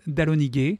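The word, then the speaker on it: ᏓᎶᏂᎨ: En bas de cette même page figure encore un mot de Tsalagi se traduisant cette fois-ci par or ou jaune et il se prononce d'Alonigée.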